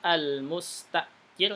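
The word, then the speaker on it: المستأجر: Al-mustajir, ini yang pertama al-mustajir gitu bacanya, hamzahnya sukun.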